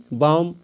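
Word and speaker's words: bomb: बी ओ एम बी बम सीओ एम बी कॉम डीओ एम बी डम तो दोस्तों इसमें जो बी है इसका उच्चारण मैं नहीं कर रहा हूं मैं क्या बोल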